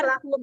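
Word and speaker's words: لهم: Bacanya jelas lahum ya. Ya, mim sukunnya dibaca jelas tanpa gunnah.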